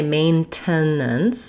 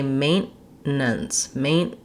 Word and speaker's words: maintenance: American English is that we're going to use more of a stopped T here, which means I'm not going to say maintenance, I'm going to say maintenance. So I'm going to stop on my N, and it's almost like that T drops off.